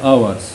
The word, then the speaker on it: hours: ساعات يعني hours يعني الاتش هنا في الكلمة دي silent صامت، يعني بنقول hours.